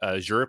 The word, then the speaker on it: Azure: grunt we have um on the aure platform or Azure however you prefer to pronounce it uh as your bicep